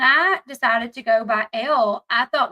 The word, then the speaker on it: Elle: Tik Tok I got a good laugh she pronounced her name as Ellie hasn't she ever heard of el magazine I'm actually am I crazy because when I decided to go by L I thought like people would know that L